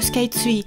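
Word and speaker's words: スカイツリー: J'adore me rendre à Tokyo Sky Tree. D'ailleurs, remarquez que je dis Sky Tree au lieu de tree comme en anglais. Mais je le prononce à la japonaise avec un tsu et un ri.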